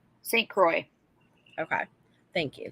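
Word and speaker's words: St. Croix: Wisconsin St Crocs county is that how you pronounce it St Crocs St Croy okay thank you St Croy so I'm I've never been tubing I'm not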